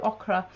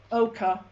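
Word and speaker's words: ochre: okra i don't know oka oka so you don't pronounce the r in it no this is the art teacher oh it's o c h r e yes yeah and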